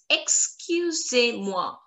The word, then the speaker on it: excusez-moi: The sound of EZ is like accent aigu, sound of accent aigu. A. A. Excusez. Excusez-moi. Moi, we've already done. Moi, like soir. Soir. S-O-I. Soir. Au revoir. Voir. Okay? That sound, that pattern.